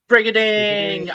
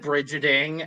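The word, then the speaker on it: Brigiding: yeah that's all right brigading i learned how to say her name properly reading reading not pretty hitting this i said bridgetting and i felt really bad it's also because we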